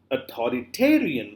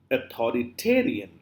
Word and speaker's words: authoritarian: is not author authorit it's authoritarian where are you putting the T authoritarian authoritarian so you know